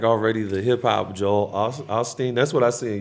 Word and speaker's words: Osteen: there somebody that's like already the hip-hop Joel Osteen? That's what I see in your future. If I had a crystal ball, I'd be like, you're kind of the hip-hop. That's how you say his name, Osteen?